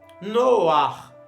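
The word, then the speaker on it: נֹחַ: E na pronúncia, pastor, ele é pronunciado junto com a consoante, que dá aquela puxada na cultura. No caso de Ruach, Noach, tá?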